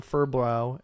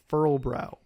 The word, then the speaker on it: Furlbrow: We leaned our fur on Furbrow and... I need to work on that pronunciation. Furlbrow.